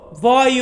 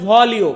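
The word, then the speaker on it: voglio: বর্তমান এটাকে আমরা বলবো ভয় আদেশ ভয় মানে হচ্ছে আমি চাই অনেকে উচ্চারণ করেন ভলিও বাট এইখানে এই ল সাউন্ডটার উচ্চারণ আসবে না এটা হবে ভয় আদেশ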